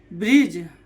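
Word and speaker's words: bridge: जैसे ब्रिज, BRIDG, जी के पहले डी आ गया तो क्या हो जाएगा? जी के पहले डी आया तो क्या हो जाएगा? डी साइलेंट हो जाएगा।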